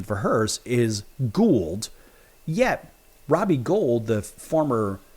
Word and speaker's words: Gould: 2026 and of course that gets commissioner Teresa Gould I and I stuttered for a second I stopped for a minute there because I was thinking of Robbie Gold now the correct pronunciation for hers is Gould yet Robbie Gold the former Chicago Bears and